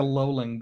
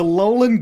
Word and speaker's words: Alolan: It looks like a Alolan Golem.